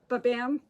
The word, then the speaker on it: Babam: unbelievable they make this wine called babam wreaths babam exactly like I said it's spelled stock like that b-a-b-a-m-m the BAM and